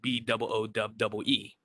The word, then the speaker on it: Boowee: So I spell it Boowee, which I say quickly Boowee.